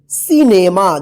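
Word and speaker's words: cinema: ठीक है, सी आई एन ई एम ए, सिनेमा। देखिए यहां पे सी के बाद क्या है आई है तो सी का स उच्चारण हो रहा है यहां पे।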